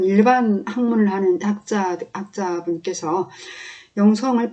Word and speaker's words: 영성: 그게 실은 맞는 발음이에요 언어학 적으로는 어떤 특성을 말할 때 성격을 말할 때 그 성을 된 소리로 발음하는게 맞아요 받침이 있을 때 이런